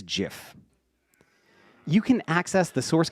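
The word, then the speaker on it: GIF: the correct way to pronounce this word is Jiff you can access the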